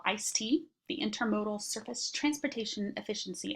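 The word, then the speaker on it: ISTEA: legislation for you to know about it's called ice tea the Intermodal surface Transportation efficiency act um it's pronounced ice tea that was in 19 1991 um really was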